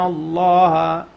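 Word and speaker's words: الله: So if the name of Allah, the letter before name of Allah has a fatha or dhamma, we pronounce it with tafkhim. But if it has a kasra, we read it with tarqiq. So since this noon has a fatha, we read this heavy.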